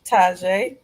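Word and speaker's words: Tjay: Taj to You made it sound better. So, we gonna go with your version. Taj.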